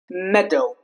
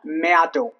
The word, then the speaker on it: meadow: Hand bread wrong bread meadow not meadow that's wrong search not search that's